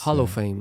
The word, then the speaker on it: Hollowfame: It's Hollowfame, like hollow.